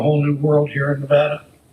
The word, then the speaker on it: Nevada: new world here in Nevada. And there's no H in Nevada, sir, just so you know. We always tell everybody that. We told him we wouldn't hire him if he said it wrong.